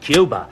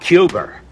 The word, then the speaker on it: Cuba: kept telling Jack Kennedy it's pronounced Cuba not cuber but maybe you're right